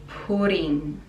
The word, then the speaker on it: pudding: Figgy pudding. Figgy pudding. The D is very soft in pudding, and NG, again nasal sound.